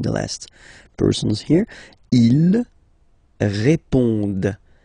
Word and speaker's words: répondent: Okay, and then the last persons here, ils répondent. So same thing here, classic ending ENT, but then you don't pronounce it.